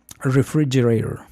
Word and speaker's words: refrigerator: Aquí el problema mío es que yo no sabía dónde estaba la sílaba tónica. Yo decía, como nosotros decimos refrigerador, ¿sí? Yo pensaba que en inglés la primer vocal era la sílabatónica, o sea, refrigerator.